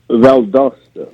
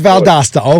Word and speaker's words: Valdosta: So I'm looking here that you were born in, how do you say, Valdosta or Valdosta? Valdosta. It is Valdosta.